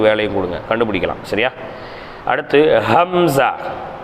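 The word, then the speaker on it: همزة: கொடுங்க கண்டுபிடிக்கலாம் சரியா அடுத்து ஹம்ஸா ஹம்ஸா ஏறத்தாழ ஹாவினுடைய உச்சரிப்புதான் ஹம்ஸாவுக்கும் வரணும் சரிங்களா ஹம்ஸா தொண்டையின் கடைசி பாகத்தில் உச்சரித்தல் ஹம் ஜா ஹம் ஹா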